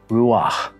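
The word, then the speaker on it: Ruach: sorcerer hovering over a body of water is pronounced Ruah and the writers remember that it created a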